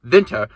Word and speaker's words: Winter: So regardless, the most successful of these operations was the M. Winter, I say it like a German, Winter Brothers Brewing Company on South 27th and Josephine Streets.